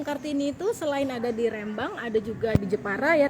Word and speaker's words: Rembang: Pengucapannya namanya Rembang.